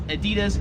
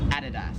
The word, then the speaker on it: Adidas: In America, we would pronounce this as Adidas. However, here in Australia, it is Adidas.